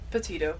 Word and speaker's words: Petito: Think of Titos, like the vodka. Yeah, yeah. So, Gabby Petito was born March 19th Gabby Petito.